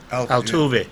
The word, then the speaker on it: Altuve: How do you pronounce Altuve? Altuve.